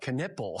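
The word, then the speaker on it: Knueppel: Knippel.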